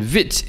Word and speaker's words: vite: And vite is also a French word for quick.